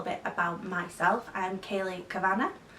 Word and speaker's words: Kavanagh: I'm Kayleigh Kavanagh, just letting you know how that's pronounced because a lot of people pronounce it the Irish way.